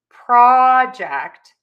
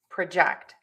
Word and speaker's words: project: So then we will have PROJEKT and PRUH-DOOSE. So let's listen to the difference there. We have project, project, produce, produce.